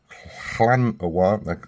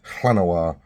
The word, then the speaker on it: Llanowar: Balefist Oak, Warden of the Woods, Nature's Way, Wall of Blossoms, Llanowar, I'm going with the Welsh pronunciation, Llanowar, Visionary, Snare Spinner, Aggressive